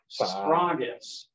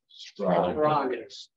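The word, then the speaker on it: σφραγίς: Here's a sigma and a p and a rho, actually. All three of those are, it's a consonant cluster, but they're all pronounced. Spragus. Spragus.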